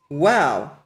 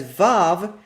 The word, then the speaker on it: Waw: The historic pronunciation of this letter, a voiced bilabial, is wow. The convention of pronouncing it as vav is also acceptable, but this pronunciation does hail from the modern period.